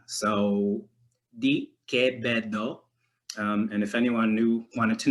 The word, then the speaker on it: Quevedo: So it would be Quevedo, because like that QU digraph also, you would simplify it to a K sound.